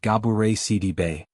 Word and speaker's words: Gabourey Sidibe: Gabourey Sidibe, pronounced Gabourey Sidibe, continues to use her platform to share truths, big and small, with humor and grace.